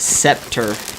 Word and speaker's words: Sceptre: They're pronounced Scepter. What did I say? Sceptre? But it's spelt with the T-R-E, right?